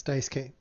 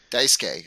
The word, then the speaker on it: Daisuke: It's Dice K. Daisuke.